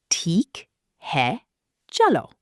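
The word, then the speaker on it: ठीक है, चलो: Once you've agreed on a price and you're ready to go, seal the deal with theek hai, chalo. Theek hai, chalo. It means, "Okay, let's go." Pronounce it Teekh hai, chalo.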